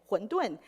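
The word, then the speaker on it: 馄饨: In Mandarin, they also pronounce pretty much the same, 馄饨.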